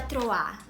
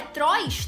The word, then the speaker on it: trois: Menage a Troar. Só que eu, leiga que sou, eu não sabia como pronunciava, né?